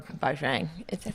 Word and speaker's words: Bajrang: I think Jo or Bajrang.